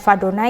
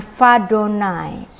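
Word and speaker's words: וַיהוָה: Ini dibacanya Vadonai karena ini adalah Yud He Vav Vav He. Nah, yang harus membacanya secara tradisi dengan Adonai, tetapi di sini ada ee awalan prefiks Vav, ya. Jadi, kita membacanya dengan Vadonai.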